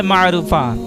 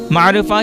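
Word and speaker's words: Maarufah: काम सखावत भलाई और बुलंदी किरदार नाम है मारूफा मारूफा की मानी अतिया नेकी मशहूर भलाई और एहसान और इसकी स्पेलिंग है एम ए ए आर यू एफ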